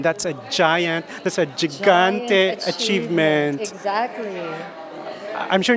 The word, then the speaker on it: Gigante: Yes, we're with the reigning Universal Woman 2024, Maria Gigante. Gigante, correct. Yes, kasi nami-mispronounce ko, Gigante, Gigante, Okay lang Gigante.